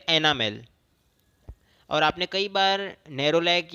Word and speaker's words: enamel: तो एनामेल को नाम सुन के कोई कैरामेल की याद मत कर लेना, क्योंकि दोनों बहुत ही राइमिंग वर्ड्स है, बहुत लोग मिस प्रोनाउंस कर जाते हैं। ये है एनामेल।